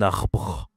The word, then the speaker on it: arbre: Tree en français c'est alors c'est masculin un arbre. Attention un 2 R. C'est difficile hein. Tu dois faire comme un tigre arbre.